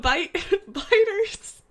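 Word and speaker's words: Byte: I mean, it is spelled B-Y-T-E and not B-I-T-E, but, like, still, it's Bite.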